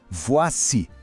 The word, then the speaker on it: voici: Remarquez que la prononciation change légèrement, c'est un peu plus long. Écoutez attentivement la différence. « Voa si ».